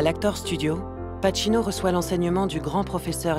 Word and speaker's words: Pacino: Someone pronounced my name right. They always used to say Pini orino. He said Pacino and I thought ok what happen?